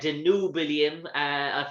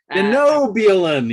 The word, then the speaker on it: Denobulan: It was the Danubian. Dare I say that? I didn't get that one right. No, in terms of a Danubian sort Denobulan. Denobian. Denobulan. You're dropping the L.